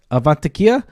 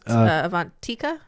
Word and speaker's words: Avantika: Karen um she was uh she actually is avania I'm I'm sorry if I'm pronouncing that totally wrong guys avantika avantika okay yeah so avantika avania um you